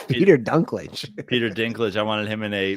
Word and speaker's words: Dinklage: I wanted Peter Dinklage in a Dinklage, not Dunklage. It's Pe- Peter Dunklage. Peter Dinklage.